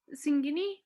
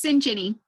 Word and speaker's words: Sinjini: Is it Miss Singini? It's Sinjini. The T silent.